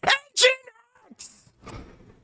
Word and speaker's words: Nginx: And if you want to see a setup on Nginx as well, Engine X.